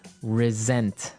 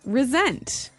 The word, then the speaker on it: resent: said I resent that resent resent okay now this is spelled exactly like resent like with an S right that's right re s n t but you pronounce it like a z mhm resent resent that so what